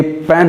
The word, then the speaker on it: pen: ये पेन है, इंग्लिश में इसकी स्पेलिंग होती है PEN।